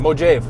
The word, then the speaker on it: Mojave: Anyways, the logo Mojave that pops, or how is it pronounced? Mojave.